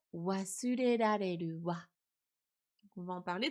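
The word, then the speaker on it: 忘れられる: Il est pas facile à prononcer, hein. Vous pouvez essayer à voix haute chez vous. Wasurerareru. Là, pour les personnes qui n'arrivent pas encore bien à prononcer le R, c'est un vrai challenge.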